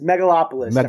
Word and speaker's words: Megalopolis: out is that how you say it yes megalopolis Francis Ford Copa epic yes it debuted at